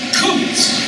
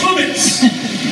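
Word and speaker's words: chametz: All the kids love this word because it's a hard guttural CN sound. You can really go to that. It's the word chometz. You've got to get that. That almost spit-like set working here. It's not chumitz. And it's not kumitz. It's chumitz. Well, Fred, just don't, you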